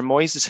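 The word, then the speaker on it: Moyses: to the 17th uh sir moises hill um probably a derivative of moses i would have thought but spelt m-o-y-s-e-s so hence my pronunciation arrived in ireland in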